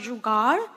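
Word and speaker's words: जुगाड़: And so the term here that you see here, it's pronounced Jugaad. It's a Hindi word.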